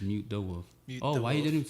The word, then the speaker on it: Mutedawolf: People call me mutated wolf, muted a wolf. Mutated some shit, and I'm like, it's just mute the wolf.